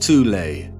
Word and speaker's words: Thule: society within germany called the thol society sometimes alternatively pronounced tulay that had sub-factions within